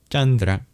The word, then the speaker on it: chandra: This is cha chandra. Similarly, there is an aspirated guttalive g.